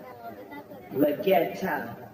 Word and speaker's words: Leggero: Is that how you say it, Leggero? Leggetta. That's how we say it.